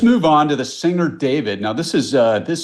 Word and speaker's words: D4vd: Well, so what we know is that it's not pronounced D4 VD, it's pronounced David.